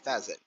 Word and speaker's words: pheasant: I've heard it pronounced both ways. Peasant and feeasant.